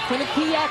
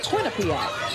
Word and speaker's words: Quinnipiac: just showing what they can do against this quinnipiac team it's got some fight in them but